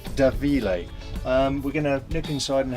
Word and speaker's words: Da Mhile: a da mah IL e but it's actually pronounced da Vila we're gonna look inside and have a word